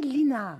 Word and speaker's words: Lisnard: David Lisnard. Qu'on peut prononcer aussi Linard.